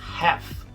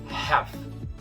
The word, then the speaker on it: half: A pronúncia correta dessa palavra em inglês americano é half, com um L mudo. Ignora que ele tá ali, tá? Half.